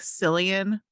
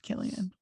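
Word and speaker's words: Cillian: it really bugs in his name it looks like sillian but they pronounced just killian i literally thought it was silly and until just the second when you said that because i listened to a podcast that he was in he was in the armchair with doc shepard and uh he pronounced it as killian that was like oh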